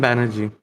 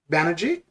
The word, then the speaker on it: Banerjee: how do you say your last name adam banerjee banerjee yep okay there we go oh there we